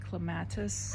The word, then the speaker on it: clematis: I call it clematis. I know everybody doesn't pronounce it that way, but suck it.